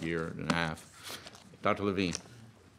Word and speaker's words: Levine: Levine. It's one syllable longer than Smith.